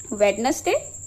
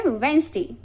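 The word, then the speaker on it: Wednesday: वेडनेसडे नहीं। ये word होता है वेडनेसडे। सो यहां पे भी डी जो है वो साइलेंट होता है। और हम यहां पे बोलते हैं वेडनेसडे।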